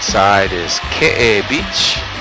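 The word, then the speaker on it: Keʻe: beach down below on our right side is ka beach it's spelled ke but pronounced K and that's where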